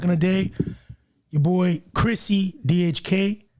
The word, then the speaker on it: Chrissy DHK: Your boy Chrissy DHK, right?